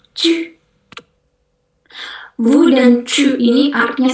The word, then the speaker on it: tu: Tapi kalau yang kedua itu bacanya cu. Bibirnya harus moyong, cu.